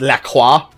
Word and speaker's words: LaCroix: Yeah, it's LaCroix. LaCroix is apparently how it's actually pronounced for the beverage, which bothers me, so I'm going to keep calling it La Croix.